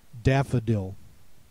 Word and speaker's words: daffodil: Next word, daffodil. Note the unaccented schwa sound in the middle of the word is spelled with an O.